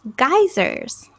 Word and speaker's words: geysers: yeah very good and this is kind of pronounced like geysers geysers I say yeah great